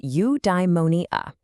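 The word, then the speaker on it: eudaimonia: It's pronounced udeimmonia.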